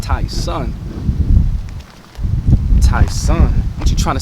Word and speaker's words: Tyson: they say my name right you know it's pronounced taon ta son a you trying to say that you me